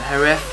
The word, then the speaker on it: Jerez: with the the uh the herf I should say I'm sure that's how they say it uh the herf testing